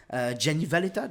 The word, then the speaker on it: Gianni Valletta: Moi j'ai eu Gianni Valletta. Gianni Valletta, c'est qui? Gianni Valletta, Gianni, ouais, ça se prononce comme ça.